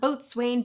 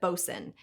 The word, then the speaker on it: boatswain: As those of us who enjoy below deck know, it's not boatswain, but bosun. In fact, it's sometimes just spelled B-O-S-U-N.